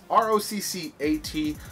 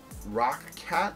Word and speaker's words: Roccat: It's R-O-C-C-A-T, but I presume it's still pronounced Roccat.